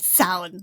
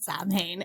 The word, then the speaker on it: Samhain: life that's my PSA it sound not Sam ha and it is an